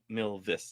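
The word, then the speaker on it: Milvus: Oh, Milvis, not Milis.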